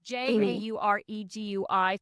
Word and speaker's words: Jauregui: Lauren Jauregui? I don't know how you say it. It's Jauregui.